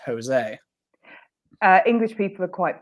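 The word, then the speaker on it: José: we all know that when you see the name Jose it's not Joe's it's Jose uh English people are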